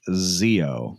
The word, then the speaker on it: XXIO: It's XXIO, whatever you like to pronounce it as. I like XXIO. That's how I pronounce it. I like that. I'm going to start calling it the Zeo.